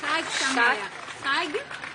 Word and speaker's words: Chag Sameach: Thank you so much again, and Chag Sameach. It could be pronounced better. Chag Sameach.